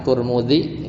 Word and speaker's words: Tirmidzi: Rawahu at-Tirmidzi ya, riwayat Imam Turmudi atau Tirmidzi, bacanya bisa dua, Imam Turmudi ya, atau Tirmidzi biasanya.